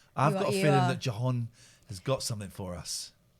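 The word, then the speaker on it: Jhon: Spell it. J-H-O-N. Oh, it's an unusual spelling. Yeah, I know. Jahan.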